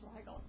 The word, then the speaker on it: Rigel: Don't mean to correct you, Mayor Jones, but my last name is pronounced Rigel. Rigel? Because Sorry. I use the German pronunciation.